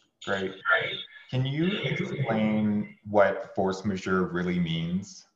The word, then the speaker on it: force majeure: So, you know, here's the quick version of force majeure. First of all, it's French. I will spell it. It's force, F-O-R-C-E, majeure, M-A-J-E-U-R-E.